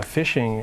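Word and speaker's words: phishing: look out for something called fishing uh fishing uh it's spelled with a PA um the fishing scams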